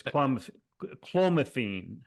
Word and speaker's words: clomiphene: Yeah, it's clomiphene.